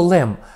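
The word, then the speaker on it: Lehm: Воно мало 4 літери – Л, Е, H і М. Читається воно все одно Лем і означає в німецькій мові глина.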